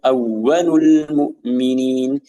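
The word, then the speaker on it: أَوَّلُ الْمُؤْمِنِينَ: Jadi awwalul mu'minin, awwalul mu'minin, awwalul mu'minin. Dan juga kebanyakan seseorang dia membaca dengan yang memfokuskan tekanannya pada huruf lam, ya awwalul, ya awwalul, atau wawnya juga, ya sehingga akan memisahkan kalimat.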